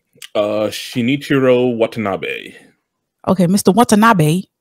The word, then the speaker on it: Shinichirō Watanabe: But yeah, how you pronounce the director's name? Shinichirō Watanabe.